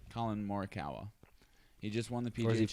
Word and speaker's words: Morikawa: doing no it's a young kid named colin murakawa who just won the pga how do you say his name colin morikawa he just won the people don't i was